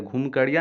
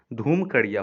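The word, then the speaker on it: धुमकुड़िया: घुमकड़िया नहीं होता है, धूमकड़िया होता है। घ के जगह ध का उच्चारण होगा यहाँ धूमकड़िया।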